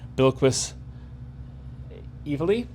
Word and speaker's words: Bilquis Evely: Cover G, 1 in 25, by Bilquis Evely. That's how you pronounce their name.